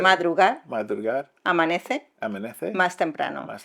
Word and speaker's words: madrugar: Mucho madrugar, how do you say Madrugar.